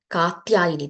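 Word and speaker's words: Kātyāyanī: Katyayani. There is no R there, okay?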